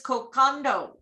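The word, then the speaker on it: kokoda: Any word with a D has an unwritten N in front of it. Nadi is pronounced Nandi, and the delightful cold marinated seafood dish kokado is kokonda.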